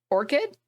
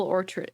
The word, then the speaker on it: orchard: tastes so much better Orchid or or Orchid isn't that what it's called an apple farm is it pronounced in a different way an apple orchard is it with a chi Orchard Orchard oh oh look another